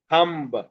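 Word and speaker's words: thumb: মানে আমরা বলবো না খম্ব, ক্লাইম, থাম্ব, মানে বয়ের উচ্চারণ করব না আমরা, বি এর সাউন্ড তো ব।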